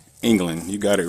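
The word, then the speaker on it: Englen: And now we have, if there was a D on the end of your name, I would pronounce it England.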